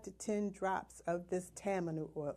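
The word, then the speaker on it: tamanu: to add five to ten drops of this Tammany oil it's spelled ta ma nu oil this is your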